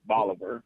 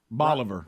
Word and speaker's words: Bolivar: a instead of a bolivar rhymes with oliver boliver rhymes with oliver that's